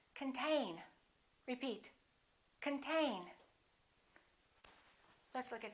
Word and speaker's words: contain: control the next one is the same this o is reduced this syllable is stressed contain repeat contain let's look